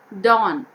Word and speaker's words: dawn: Dawn. Again here in this word, W again silent, dawn.